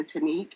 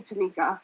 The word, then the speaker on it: Tanique: But I always have to obviously spell it and then say it, and people still say, "Oh, okay, Tanika," because they're more used to Tanikas or Tanikas and not a Tanique.